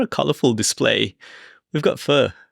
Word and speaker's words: pho: in The In Crowd I call it fur and in the in Crow yeah you've been to Vietnam so you would have heard them pronouncing it quite often but the fur here